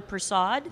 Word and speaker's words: Persaud: I forgot to ask how you pronounce his name, but is it Tyler Persaud? Yes. Yes.